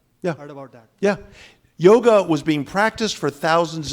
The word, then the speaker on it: yoga: like the O in yoga, in Hindi, they drop the half syllable, yog. But in Sanskrit, that is known as a half syllable, and that is to be pronounced, yoga.